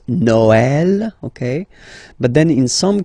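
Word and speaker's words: Noël: you will have to you will have to pronounce it like e okay like for instance noel okay but then in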